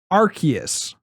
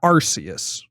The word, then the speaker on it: Arceus: subscribe if you know what's pronounced arceus not arceus welcome back to the